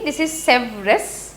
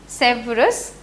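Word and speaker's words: Sèvres: हो बनन हम देख सेस ठीक ट्रीटी ऑफ सेस किंतु सॉरी हम ख एस साइलेंट थाके तो कारण इ नोन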